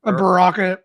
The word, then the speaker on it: Baraka: How do you pronounce him? Bar- Baraka.